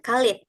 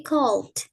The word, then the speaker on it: cold: Nah, ini bacanya bukan Khalid ya. Bukan Khalid tapi cold.